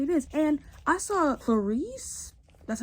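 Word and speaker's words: Clarisse: just the way it is and I saw Clarice that's how you say her name Person describes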